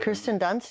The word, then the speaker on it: Kirsten Dunst: Kirsten Dunst, is that how you say her name? Yes.